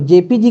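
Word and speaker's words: JPEG: देखो जेपीजी का भी फुल फॉर्म यही होता है। ऐसा मत समझना कि जेपीजी ही इसमें है। सिर्फ ई इसमें साइलेंट रहता है। लेकिन जेपीजी और जेपीईजी दोनों एक ही है।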